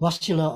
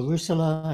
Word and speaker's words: Russula: And whether you say Amanita or Amanita or Russula or Rusula, as the Americans seem to like to say, choice is yours, frankly.